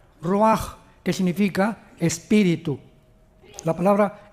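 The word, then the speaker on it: רוח: h, que se pronuncia roach, pero en el hebreo es roaj. La ch en el hebreo es como J. Roaj, que significa espíritu.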